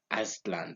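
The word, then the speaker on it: Aztlán: Aztlan, that's how I pronounce it.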